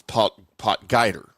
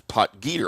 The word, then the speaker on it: Potgieter: Uh I always thought it was poter but apparently it is poter.